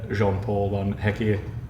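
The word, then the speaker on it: Jan Paul van Hecke: had that reported training ground bust up with Jean-Paul Van Hecke.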